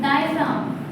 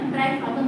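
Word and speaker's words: diaphragm: डायफ्राम डायम जी silent है ड्राई फार्म मत बोलना।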